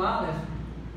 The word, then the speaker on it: Aleph: Nominá-la como Aleph. O nome dessa letra, a pronúncia é Aleph.